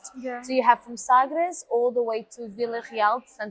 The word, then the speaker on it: Sagres: The closest is actually Sagres. Okay. I said that in a very English way. Sagres. How do you say in Portuguese? Sagres. Sagres. Sagres.